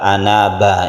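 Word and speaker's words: أَنَابَ: Ini adalah anaba, ini satu kesatuan anaba, bukan ana saja. Oleh karena itu ana di sini tetap panjang.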